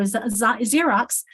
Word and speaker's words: Xerox: Unless the X is at the beginning, in which case it represents Z, like in xenophone or Xerox.